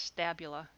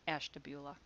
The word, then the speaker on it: Ashtabula: which i think anybody on the outside would pronounce as stabula but in ohio it's pronounced ashtabula there it is okay here's an example of